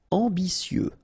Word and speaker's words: ambitieux: Ambitieux. Final X not pronounced, and then remember that you get this T, I, and then vowel, so si.